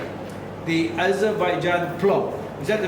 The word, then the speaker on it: plov: The Azerbaijan plov. Is that the correct Correct. pronunciation? Yes. Plov or plov?